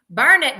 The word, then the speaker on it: Burnet: someone says Bernett Texas they say burn it darn it can't you learn it but it's not